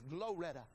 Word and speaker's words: Gloretta: My friend, evangelist Gloretta, but I like to say it like this, Gloretta.